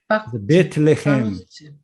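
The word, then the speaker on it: בֵּית לֶחֶם: 그래서 여기에 뒤에 레헴이라고 하는 말을 붙이면 어떻게 돼요? 레헴. 네. 레헴은 빵이란 말입니다. 떡. 베틀레헴. 네, 베들레헴. 그렇죠. 베들레헴이죠. 베틀레헴 할 때 그 베트가 이겁니다.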